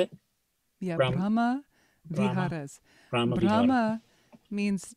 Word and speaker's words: Brahma Viharas: I think I never was as clear about how it all fits together into the four Brahma Viharas. Is that how you say it? Yeah. Brahma Viharas.